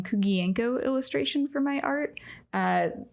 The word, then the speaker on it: Kuguenko: mainly use the name kugienko illustration for my art uh that's gonna need to spell that yes so my last name uh it's Ukrainian and I will spell